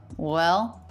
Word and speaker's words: well: Well. The word well, not pronounced too clearly. Well. Little bit of a W, maybe a schwa or an F feel with a dark L.